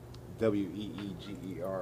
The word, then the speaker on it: Uyghur: It's spelled like, a bunch of H's and U's and G's and stuff. It's not spelled like Weeger like it should be.